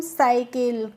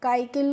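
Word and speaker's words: cycle: सी वाई सी एल है तो इसको हम साइकिल। काकिल नहीं पढ़ेंगे या सी आई आर सी एल ई तो इसको कैसे पढ़ेंगे?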